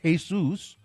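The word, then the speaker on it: Jesús: The name Jesus in Spanish, the name Jesus is pronounced Jesus.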